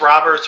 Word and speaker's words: Robert: Who's more valuable right now, Luis Roberts or Eloy Jimenez? I like Luis. I thought his last name was pronounced Robert, but again, I could just be